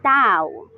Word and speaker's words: Dao: Accordingly, Dao is pronounced as Tao.